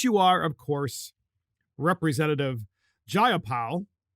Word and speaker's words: Jayapal: are, of course, Representative Jayapal. I believe that's how you say her name. It's either Jayapal or Jayapal. I think it's Jayapal.